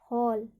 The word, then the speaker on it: whole: यहाँ पर WHOLE, तो हम इसको W यहाँ पे साइलेंट है, तो यहाँ पे हम क्या पढ़ेंगे, हॉल।